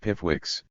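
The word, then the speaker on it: PIFWC: hunting beasts of prey called P fuks pronounced pipx capturing these persons indicted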